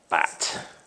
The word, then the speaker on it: butte: Bat. People love that. So that's how you pronounce it. Looks like you can pronounce it butte if you're very upset about calling it a bat.